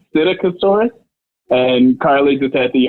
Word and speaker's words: Psittacosaurus: So the dinosaur is actually called Psittacosaurus, and Carly just had the hardest time pronouncing it.